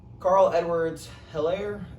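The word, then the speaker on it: Clyde Edwards-Helaire: He's got Carl Edwards Hilaire. That's how you pronounce his name.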